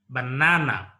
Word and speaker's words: banana: here with this word banana the word is pronounced as a banana here the second syllable is a marker stress